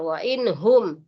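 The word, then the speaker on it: وَإِنْ هُمْ: Kenapa ada izhar? Wa inhum. Jadi dibacanya sekedarnya saja. Yang penting yang harus yang jelasnya harus jelas bunyi nun matinya.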